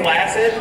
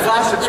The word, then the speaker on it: flaccid: say flaccid? And flaccid's pronounced flaccid, by the way.